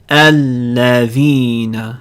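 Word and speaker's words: الذين: Alladhina. We have hamza lam at the beginning, so we put a fatha on the hamza. Alladhina. However, when we connect it to the previous word, we lose the hamza.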